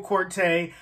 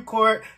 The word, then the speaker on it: Korte: the absolutely phenomenal corte um i hope i'm pronouncing your last name right first i was calling you court now i believe it's corte but you know i